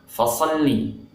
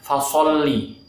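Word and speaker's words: فَصَلِّ: Kesalahan pertama saat kita membaca huruf fa, kita ganti dengan huruf p, pa. Fassalli itu salah ya. Fa ini sama dengan huruf F Indonesia ya, gampang ini. Ingat, bukan pa tapi fa. Fassalli. Kemudian kesalahan selanjutnya saat mengucapkan huruf so, bibir kita monyong atau manyun, so. Nah ini tentunya tidak benar ya. Yang benar so, fassalli, bukan fasolli.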